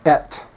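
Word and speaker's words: את: So we've got aleph, which makes no consonant sound, and then segol, which is the sound eh, and then the tav, which goes t like a T, so et.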